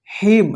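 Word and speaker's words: hymn: देना देखिए यहां पे एच वाई एम एन इसको क्या पढ़ेंगे हिम हिम का मतलब होता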